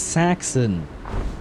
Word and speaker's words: Saxon: Oh, it's pronounced Saxon. As in Saxons or Saxony, but I guess she meant her horse breed here instead.